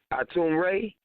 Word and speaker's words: ATUN-RE: That nigga Tank, OSOICE, ATUN-RE, motherfucking partner Baby ATUN-RE. Let me say it right. ATUN-RE.